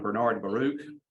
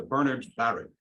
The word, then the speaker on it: Bernard Baruch: Bernard Baruch, I pronounced for a long time Bernard Baruch, but he himself emphasized the first syllable in both names. So Bernard Baruch.